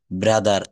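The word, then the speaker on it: brother: শব্দের শেষে যদি আর থাকে, তাহলে সেই আর এর উচ্চারণ হবে না। কেমন? শব্দের শেষে আর থাকলে আর এর উচ্চারণ হবে না। যেমন ফাদার, মাদার, সিস্টার, ব্রাদার এর কোনো জায়গায় কিন্তু আমরা আর বলবো না।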